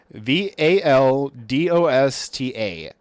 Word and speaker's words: Valdosta: I have no idea how to pronounce that. V A L D O S T A Valdosta, I'm guessing.